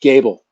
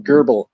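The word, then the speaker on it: Goebel: my kai my my my last name uh is is pronounced gable so there you go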